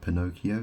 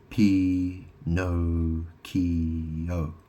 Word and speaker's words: Pinocchio: Pinocchio this the character Pinocchio he's called you know P no keyo it's like he's got no keys or something or he